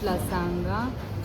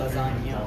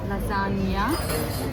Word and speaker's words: lasagna: Potato veggies, garlic bread with cheese, veg లసాంగా, లసాంగే, Spelling okay. That is pronounced lasagna. లసాన్యా, pizza veg paneer, goes Mexican,